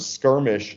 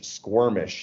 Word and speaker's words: skirmish: I still remember he kept pronouncing the word Skirmish squirmish he kept calling it squirmish is the whole press